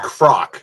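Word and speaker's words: Kroc: Tell her to uh tell her to call Ray Croc. Ray Croc. Yeah. Write Ray Croc a letter. Write Ray Crock. A letter. Letter. Ray Croc. Croc. Not cockro.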